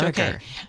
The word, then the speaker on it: Barriger: Oh, I'm mispronouncing it. Pardon me. That's Barriger.